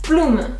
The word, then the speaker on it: Blume: Our next word is Blume, which translates to flower. And it is as if you are saying bloom, but with an E at the end. Blume, Blume.